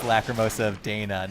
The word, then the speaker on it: Dana: and thank you for that is that I mispronounce the name of the game and its lack of mosa of Dana not Donna here's the thing so here's the thing technically